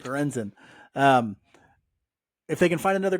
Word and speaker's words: Lorenzen: Lorenzen.